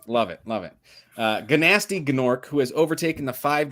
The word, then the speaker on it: Gnasty Gnorc: kingdom to defeat nast is it gnasty gnorc or nasty it's gnasty they do that they make a point of pronouncing that g man i love it love it love it uh ganasti gnorc who has overtaken the